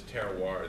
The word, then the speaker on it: terroir: it comes down to is is terar that that that that horrible French word that everybody thinks is spelled Terrier but there is terar